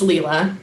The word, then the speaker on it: Leela: wonderful tr you guys how do you say your name leela it's leela leela okay it's wonderful and